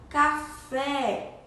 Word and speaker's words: café: o som aberto certo como café café tem o som aberto e a sílaba tônica é fé que a sílaba mais forte café né então café eu